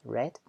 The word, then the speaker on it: read: in the past remember read in the past it's pronounced red so she says you